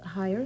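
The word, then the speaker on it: Hier: Pauline Bruce is our treasurer and the secretary is Vicky Har. H I E R. Is that the way it's pronounced? Higher, but okay.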